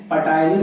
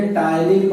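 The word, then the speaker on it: ptyalin: Enzyme की बात करें तो यहां पर एंजाइम आता है टाइलिन, यहां पर पी साइलेंट है, पटाइलिन नहीं बोलोगे, टाइलिन कहोगे।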